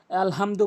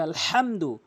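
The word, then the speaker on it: الحمد: ওখানে আলহামদু বলবেন আপনার নামাজ হবে না। বলতে হবে আলহামদু। বরনে উচ্চারণ করতে হবে।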